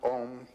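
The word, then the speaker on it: AUM: You start in the back of the mouth, ah, and then oo, you fill the mouth, and closes at the mouth.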